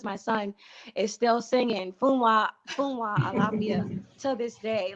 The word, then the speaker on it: Funwa Alafia: song is one that we learned as funga because the American schools taught it as funga. They had the pronunciation wrong. They even have it in music books. They got the music, the words, everything.